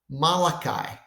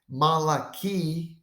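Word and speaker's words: מלאכי: um quotation taken from Malachi well guess what Malaki or Malachi in English is exactly the name of the Prophet the name the prophet name Malachi or Hebrew Malaki means my messenger okay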